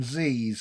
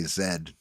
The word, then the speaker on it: Z: You go catch yourself some Z's, okay? Get yourself Is some that how you 99 cents. Americans? Yeah, is that how you Americans say it? Z, innit? Z's? Yes, you guys say Zed, correct?